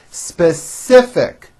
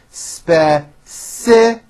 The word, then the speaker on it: specific: we have similar opinions specific three syllables speciic please be specific value there's a strong